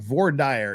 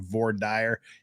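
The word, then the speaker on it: voir dire: don't get me wrong VOR dire is the correct pronunciation for that so anybody that thinks you're annoyed by the pronunciation VOR dire you're just wrong because that's how God pronounces it findings and report is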